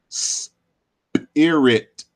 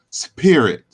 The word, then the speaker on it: spirit: the word spirit, but most folks don't pronounce the word spirit as spirit with the hard P or P. We do it as an aspirated P with an H type sound. So we say spirit.